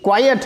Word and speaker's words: quiet: तो ये क्वाइट है, प्रोनाउंसिएशन इसकी क्वाइट है, अ का साउंड आएगा, क्वाइट।